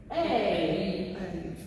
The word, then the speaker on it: Hey: It looks like an E, but it says A. Like a hay. Because your hay is right there. And it'll read out H-E, like he.